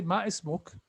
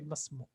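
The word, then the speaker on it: ما اسمك: It's okay to say ma ismuk, but in Arabic, that alif is like silent. You say masmuk.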